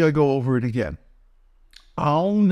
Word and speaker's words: Aum: ĀŪṀ is a combination of three transcendental letters, A, U, and N, the nasal M, each one of which gets one beat. And then the dot, the bindu, is a moment of silence, which only gets half a beat. So ĀŌṀ altogether gets 3.5 beats. And there's a moment of silence at the end.